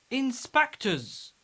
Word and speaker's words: inspectors: Inspectors. Inspectors. We pronounce final S Z because it's preceded by R.